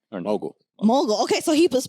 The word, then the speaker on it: Mogle: so is it Mowgli mow how do you pronounce it mogul right or no mul okay okay so he was pronounced it right